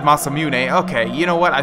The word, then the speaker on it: Masamune: always pronounced it the masam mun someone mentioned that they thought that I mispronounced it and uh yeah it's just I've always pronounced it mamun but I guess it's the masamune or something like that but